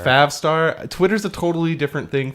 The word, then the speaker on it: Favstar: Like, you talk about this Favestar thing, and I just don't know it's pronounced Favstar. Favstar.